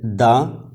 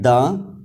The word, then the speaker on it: the: हम किस तरह करें यानी इसे हम प्रोनाउंस करें द या दी तो इस हवाले से यह बात याद रखिए कि इफ द following word begin with a consonant sound we speak द इफ द following word